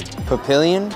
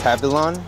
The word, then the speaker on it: Papillon: Papillion. Try again. Papillon. Say it again. Papillon.